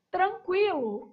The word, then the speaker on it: tranquilo: Qui. O U é pronunciado. Esse u aí, ó. Qui enruga a sua boca, então ele é pronunciado tranquilo. Vamos começar pelo número de letras da palavra tranquilo.